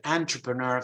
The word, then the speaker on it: entrepreneur: But it comes from French, and so one follows, entrepreneur follows the French pronunciation, while enterprise follows in more English pronunciation.